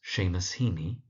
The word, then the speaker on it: Seamus Heaney: There's Seamus Heaney, that's Seamus Heaney, Jane Weir, that's Jane Weir.